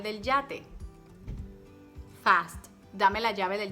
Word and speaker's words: yate: Dame la llave del yate. One more time. Dame la llave del yate. Fast. Dame la llave del yate. Do you hear any difference between llave and yate? No, because there's no difference here.